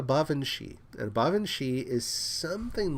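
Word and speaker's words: baobhan: cannot spell it and it's not spelled like it sounds because it's a uh because of the language it comes from it's called a bavi and bavi is something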